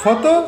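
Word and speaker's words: photo: Foto? Itu. Tidak tahu foto? P H O T O. P H O T O. Ah, tulisnya foto. Bacanya foto. Foto. P P nya dibaca jadi F.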